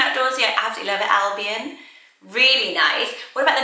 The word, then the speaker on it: Albion: trendy next name is albion so i wondered if this was just pronounced album but when i've looked at pronunciation it does come up as albion i really like it